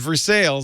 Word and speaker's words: Versailles: I adopted him from a place in Missouri that's spelled Versailles. But everybody in that city calls it Versailles.